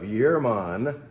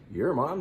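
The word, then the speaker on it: Jermann: in the form of yearmon that's how you pronounce it looks like a j there but as I've been told it's your mom this is from Northeast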